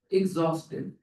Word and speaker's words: exhausted: Here, Gaza, exhausted. Go ahead. H is silent.